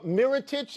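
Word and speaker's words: Mirotić: Nikola Mirotic, is that how it's pronounced? Mirotic, that's Mirotic. right.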